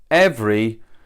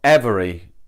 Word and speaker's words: every: across this before but 'Evry' It's not 'Every' We kind of don't pronounce that second 'e' So it's like 'Evry